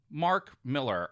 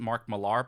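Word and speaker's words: Mark Millar: the bad end with the good yes um Mark Miller or I think some people pronounce it Mark malar but I double checked some BBC interview in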